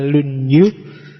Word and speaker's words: Lunyu: jujurnya dasu yang kedua lunyu bacanya misah ya kalau disambung jadi lunyu i kalau lunyu licin Oke jadi yang keempat